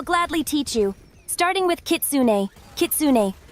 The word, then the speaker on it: Kitsune: Starting with Kitsune. Kitsune pronounced Kitsune.